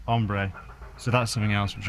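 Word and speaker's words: hombre: we've also learned that H is is silent in uh Spanish so it's not hbre it's ombre so that's something else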